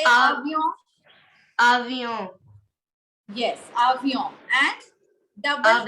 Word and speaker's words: avion: First of all, it's avion, not avion. Why are you pronouncing? Why are you giving N its complete sound when it is falling in the end?